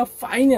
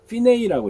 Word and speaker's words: fine: fine는 우리가 fine이 아니고 fine이라고 읽어요. 이거는 이태리어고 fine이라는 말하고는 전혀 다릅니다.